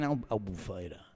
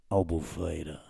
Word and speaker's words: Albufeira: You're talking Albufeira. That's how you say it, right? If you're on the radio in Portugal, Albufeira.